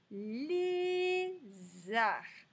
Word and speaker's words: lézard: un lézard les h on ne prononce pas le d donc c'est parti nous